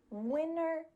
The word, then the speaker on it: winter: The first one is with an NT. So for example, the words international, winter, internet, sentence. In these words, the T is just gone.